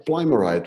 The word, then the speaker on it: plimerite: Plimerite or plimerite, what do I say? Plimer. Plimerite, right, plimerite.